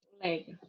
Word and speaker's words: colega: Colega, tá? Aí, eu vou destacar aqui a sílaba mais forte aqui, ó. Colega, tá? É a sílaba mais forte, é a sílaba tônica. É a penúltima sílaba.